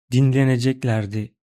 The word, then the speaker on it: dinleneceklerdi: Now, pay attention to first sentence pronunciation. Dinleneceklerdi. Dinleneceklerdi. See, miraculously my lips didn't move, and there was only one voice tone. Only thin sounds.